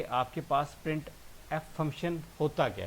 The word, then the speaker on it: printf: और इसको प्रोनाउंस करने के लिए हम यूज़ करते हैं जी प्रिंट एफ।